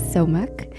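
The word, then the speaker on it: 소맥: So we're jumping right into it, but today we have somaek. I'm going to have James pronounce it the proper way.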